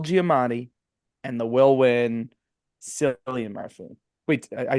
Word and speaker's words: Cillian Murphy: Dark Horse, Paul Giamatti, and the will win, Cillian Murphy. Wait, I said that right? I think it's pronounced Killian. Cillian Murphy.